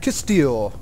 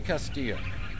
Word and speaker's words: Castillo: here before captain Castile I think that's his name I can't really pronounce the last name but oh well got a minute to talk tell me about yourself call me Castillo not allowed to tell